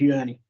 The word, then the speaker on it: Uni: been named after him, and I hope there's no confusion in the way people wish to pronounce it. It is Uni.